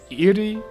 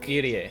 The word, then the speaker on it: Irie: Erie Clinic. Irie. Irie? Yeah, so Irie. Japanese, that's 3 syllables. Because it's I, re, a, e.